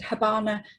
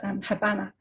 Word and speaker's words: Habana: Cuba, and I know Queenslanders pronounce it Habana, but nonetheless, that is, it was named after the capital of Cuba, obviously Havana. The B is the original Spanish spelling. Originally, it was pronounced Habana.